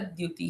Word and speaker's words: द्युति: बोला जाता है भास्कर द्युति ही, जो सूर्य के भास समान बहुत तेजस्वी है, भास्कर। प्रकाशमय है। र का भास्कर उच्चारण पूर्ण। द्युति। भास्कर द्यू, है ना। आधे द का उच्चारण।